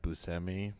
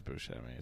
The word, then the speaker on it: Buscemi: do you guys know no yeah it's actually pronounced busami but popular is Buscemi so I'm just going with that because I